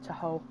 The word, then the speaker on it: Tahoe: You don't have to, you won't really crash into anything, unlike like the lake, I don't know how to pronounce that, I'm going to just say Tahoe.